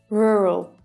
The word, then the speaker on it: rural: Rural.